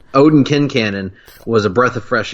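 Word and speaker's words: Quincannon: fresh air on which by the way you and I have been pronouncing it Quincan for the entirety of our friendship until the show came along and informed us we were idiots. We were idiots.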